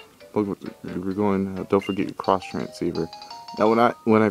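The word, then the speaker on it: Xtransceiver: going don't forget your cross transceiver now when I when I first got I always pronounce this X transer and I totally realized it was cross so yeah all right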